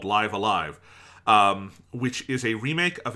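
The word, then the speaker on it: Live A Live: game called Live Alive, which is spelled live, the letter A, capital, and then another version of the word live, but it's called Live Alive.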